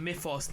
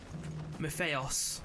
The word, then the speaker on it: Mythos: So Clive, maybe you should call it Mythos, not Mytheos.